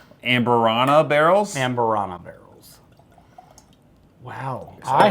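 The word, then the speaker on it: Amburana: This is finished in honey and I always pronounce it Ambrosia. No, it's not ambrosia. Amberana barrels.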